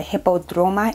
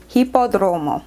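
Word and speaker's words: Hipódromo: I actually stayed at a Sonder location that was in the Roma area, the Hippodroma area. Let me just get my phone to make sure I'm pronouncing that correctly. Yes, Hippodromo.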